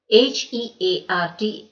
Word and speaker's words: heart: H-E-A-R-T is pronounced as heart. It's a common mistake some people make, but remember H-E-A-R-T is pronounced as heart, not hurt.